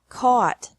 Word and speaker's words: caught: brought buy bought bought catch caught caught fight fought fought seek sought sought teach taught taught think thought thought remember that the g is silent in these verbs verbs